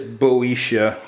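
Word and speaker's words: Boeotia: heard the pronoun so yeah it is boisha okay it's got your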